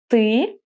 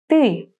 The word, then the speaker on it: ты: Do you hear how I pronounce this ты? Many students have a problem with this sound.